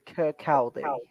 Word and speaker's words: Kirkcaldy: Niall says, I support Wraith Rovers from, how do you pronounce that, Tommy? Kirkcaldy, 5 Scotland. Kirkcaldy.